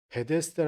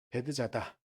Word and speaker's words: 베데스다: 대해서도 바로잡으려고 하는 노력들이 좀 있어요 그래서 저도 베데스다 라는 발음이 더 편한데 원래는 베드 자 달아 낫게 하는 그 기운이 맞다고 하더라고요 그래서 이 절에 베드 자다 라는 뭐 이제 우리에게는 전 어렸을때 계속 이렇게